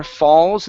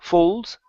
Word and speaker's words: falls: the next time water falls instead of full folds give me an a sound here the next time water